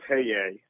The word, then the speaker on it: Paye: Good morning, and Tom butchered that name. I've never heard that, pronouncing it that way. It's Scott Paye.